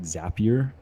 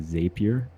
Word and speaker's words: Zapier: you guys that are curious um you do pronounce it zapier as opposed to zapier I've always been wondering that people have been